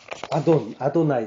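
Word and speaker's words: אדני: 아도나이, 나의 주. 주라는 건 아돈인데 여기 이제 이가 붙어서 아도나이라고 이제 발음하죠.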